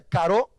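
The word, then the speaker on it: χαρά: Y la palabra gozo en el Nuevo Testamento y en esta carta es la palabra griega charo o caro. C-H-A-R-O con una acentuación en la O, se pronuncia caro.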